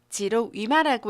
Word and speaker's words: 지록위마: 도금 읽어보겠습니다. 지록 위마라고 읽으시면 되고요.